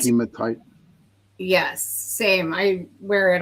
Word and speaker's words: hematite: Heatite. Oh, hematite. Hemma hematite. I always say that's a grinding stone. Yeah, hematite. Um, I like hematite.